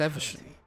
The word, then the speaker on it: Evesham: Actually, no, it's Evesham. The corpse of de Montfort. It's Evesham. It's not Evesham, for fuck's sake.